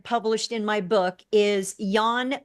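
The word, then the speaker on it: Jan: in my book is Yan V white it's pronounced Yan but it's spelled with a j j an middle name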